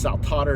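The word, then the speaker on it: Saltator: that don't know how to spell okay so saltotter is s-a-l-t-a-t-o-r so it's like sal tater except it's saltotter is how it's pronounced it's latin for dancer and that's what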